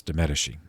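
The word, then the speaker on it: de' Medici: right that family uh it's spelled d apostrophe m-e-d-i-c-i but it's de medeshi the managing piero de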